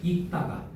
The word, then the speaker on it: 읽다가: 곁받침 리을 기억은 음절 끝과 자음 앞에서 뭐로 발음한다? 기억으로 바라한다. 다만 자음 중 뭘 만나면 기억을 만나면 그때는 리을이다. 됐어. 자 그래서 보시면 지금 이게 기억이야? 디귿이야? 디귿이지. 디귿이지. 그러니까 읽다가야 읽다가야 봐봐 기억만 기억만 리얼이지만 기억이 아닐 경우에는 뭘 해? 요거로 발음하잖아. 맞아. 어 그러니까 어떻게 돼야 돼? 다가가 돼야 돼. 바꿔 주세요. 익다가 요게 돼야 된다고요.